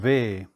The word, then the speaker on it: יהוה: Lord God is יהוה (yah’weh) When one pronounces it in Hebrew then it is two soft sounds of which neither your tongue nor your lips move. It’s a breath in and a breath out.